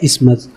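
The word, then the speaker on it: isthmus: इसका प्रोनाउंसिएशन कैसे होता है? इस्मस, ओके।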